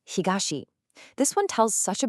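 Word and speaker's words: 東: Then we have east pronounced higashi.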